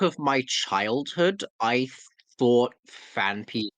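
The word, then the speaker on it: Phanpy: It's fan P, only one F sound.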